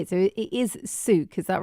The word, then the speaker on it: Sook: So it is Sook, is that right?